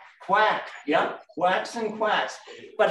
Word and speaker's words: CWAC: were the letters cwac does anyone know how you pronounce that word c-w-a-c quack yeah quacks and quacks